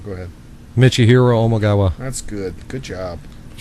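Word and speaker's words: Michihiro Omigawa: I want to hear you pronounce this other guy's name. Go ahead. Michihiro Omagawa.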